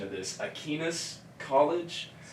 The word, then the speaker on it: Aquinas: She was a volleyball player, I believe at, pardon my pronunciation of this, Aquinas College. Aquinas, yeah.